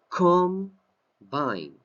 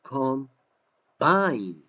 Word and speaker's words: combine: to the bold letters pronunciation com Vine This is the accent combine as a noun to come by as a verb come by come by